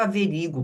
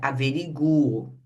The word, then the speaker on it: averiguo: Só que o certo é averiguo, averigue com esse u pronunciado, só que aqui ele é tônico. Veja, averigue é diferente de sequestro. Aqui no sequestro o e é forte. Aqui no averigue o u é forte.